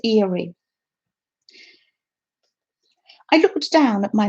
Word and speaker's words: Erie: might pronounce this wrong is it eerie in pennsylvania or airy i'm going to pronounce it erie i looked down at